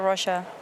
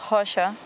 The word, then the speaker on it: Rocha: preventing that move for Russia. Or actually, I should pronounce Rocha, as he is from Brazil. Yes. The R in Portuguese in the beginning of the word sounds like an H in English.